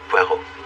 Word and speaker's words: Poirot: a parot with Mr por no no no no PUO it is pronounced PUO I'll beig a pardon